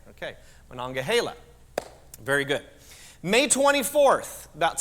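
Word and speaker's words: Monongahela: it alagan and mangila or do you all pronounce it a different way around here okay now what Mana mananga Hala okay see I I wanted to make sure I get that right okay manonga Hala very good May 24th about 60 miles away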